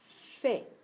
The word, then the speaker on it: fais: Attention, le son est à la fin du mot. Et contrairement au son et qui se trouve à la fin du mot qui s'écrit AI, celui-ci s'écrit avec une lettre muette à la fin. Je fais.